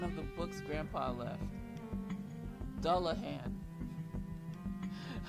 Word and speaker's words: dullahan: the books grandpa left dullahan i remember saying it wrong like i read something else i don't know what the hell i call them doll howling or something like this a fairy with the